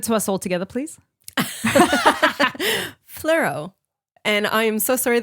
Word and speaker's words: Fleurieu: It's a Fleurieu. I want to say it in a French accent, but it's not.